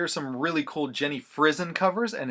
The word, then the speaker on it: Frison: in in an interview described her last name as being pronounced like prison like you're going to prison but it's Jenny frizzen so just FYI if